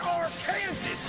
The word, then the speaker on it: Arkansas: It's pronounced Arkansas, you idiot!